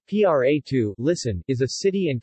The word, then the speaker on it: Prato: pronto Italian pronunciation PRA to listen is a city and commune in Tuscany